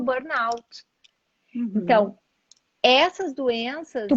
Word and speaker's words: burnout: Que eu até achava que era Borno, parecia francês, mas não é, né? É burnout que se pronuncia. é burnout, exatamente.